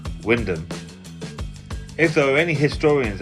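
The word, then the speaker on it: Wymondham: Lor's appliance is an ex great Yarmouth appliance and my Dennis spent his time at Roy London or that's how we pronounce it in Norfolk is pronounced Windom.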